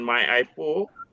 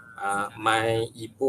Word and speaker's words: MyIPO: So jadi secara ringkasnya MyIPO ataupun Perbadanan Harta Intelek Malaysia, ada orang sebut MyIPO, ada orang sebut MyIPO pun ada. So tapi dalam bahasa kalau yang pronounce yang betulnya adalah MyIPO lah.